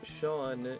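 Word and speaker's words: Seán: Oh yeah, so Sean is spelled S-E-A-N. The E isn't actually there to it's not there to be pronounced. It's there to indicate that the S sound is pronounced like sh instead of sa. Because if it was just S-A-N, it would be pronounced son.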